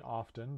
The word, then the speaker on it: often: T is a silent letter in some English words, like in castle and often. Some people say often, but other people say it without the T.